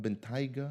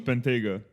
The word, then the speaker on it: Bentayga: Not Bentayga? No. From what I know, it's Bentayga.